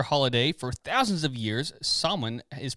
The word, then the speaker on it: Samhain: How do you pronounce that word? Samhain. Samhain? Samhain.